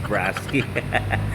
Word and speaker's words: Brusky: Brosky ng brusky. Okay. Ang tamang pronunciation po nito ay Brusky. Ayan, available po ang kulay blue dito sa Transcycle Santa Cruz.